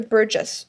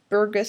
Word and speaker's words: Burgess: The first one is the Burgess, the Burgus, I don't even know how to pronounce it. Just think burgers. And instead of the R at the end, you add another S.